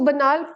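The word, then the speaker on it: banal: एंड जो ये word है ना बनाल, इसको बनाल प्रोनाउंस किया जाता है।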